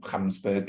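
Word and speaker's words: Gamsberg: So the telescope itself is going to be put on a mountain in Namibia called Mount Gamsburg or Kamsburg if you use the African pronunciation.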